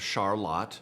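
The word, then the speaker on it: Charlotte: in Dearborn Sagen and a town called charlot I was schooled on the proper pronunciation it's in Eaton County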